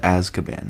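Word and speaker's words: Azkaban: It's pronounced Aszaban, my guy.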